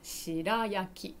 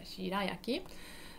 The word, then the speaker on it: shirayaki: This is called shirayaki. Yeah, shirayaki. Yeah, Japanese pronunciation. Yeah, shirayaki.